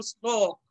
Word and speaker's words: শ্লোক: দেখো স্নেহ তো বললাম, শ্লোক, শ্লোক যদিও তালব্য স এর সাথে ল, কিন্তু তালব্য স এর সাথে ল হওয়ার কারণে কি হয়ে যাচ্ছে? দন্ত স এর উচ্চারণ হয়ে যাচ্ছে তালব্য স।